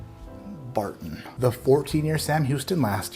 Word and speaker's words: Barton: 74 corn, 18 rye, 8 malted barley, or where we come from, we like to call it something that rhymes with fartin'. Barton.